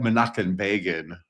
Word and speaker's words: Menachem Begin: We pronounce that Menachem Begin.